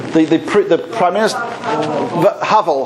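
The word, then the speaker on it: Havel: when pronounce his name Lovick how do you pronounce his name they print the Prime Minister hovel hovel right when he he was very Pro Jewish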